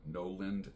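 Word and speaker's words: Knowland: his channel is called no land knows his nap last name is spelled k -n-o-w-l -a-n-d Noland will Noland and the channel is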